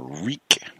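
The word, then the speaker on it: Ryk: I seriously doubt that her partner, Reek, and it's spelled R-Y-K, which I think is so funny.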